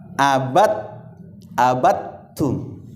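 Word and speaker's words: عَبَدْتُّمْ: Ya, jadi gimana cara membacanya? Ya, langsung abattum.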